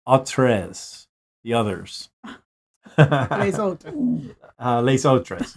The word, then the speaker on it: Les autres: Les autres is how you say it.